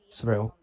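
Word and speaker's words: Sorell: Surreal. Sorry, I don't know how to say it. Not Sorrel.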